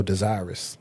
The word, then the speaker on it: desirous: Oh, desirous. Oop, got me. That's right. It's from based off the root word would be desire, but the way it's spelled, it made me think it's earious.